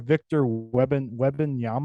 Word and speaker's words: Victor Wembanyama: My did you see it was the 7'4" Victor Wembanyama, I believe it's how you pronounce it.